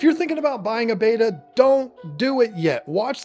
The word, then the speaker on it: betta: we did that one look we pronounce it beta I'm sorry I've pronounced it beta for 30 years and there's no changing it now if you can't tolerate hearing it pronounced beta I get get it